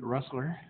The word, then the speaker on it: Russler: Okay, we're going to keep doing some more social with Miss Russler. Pronounced rhymes with hustler.